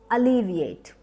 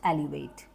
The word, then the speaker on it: alleviate: unfold the next word alleviate alleviate not Elevate pronounce it with me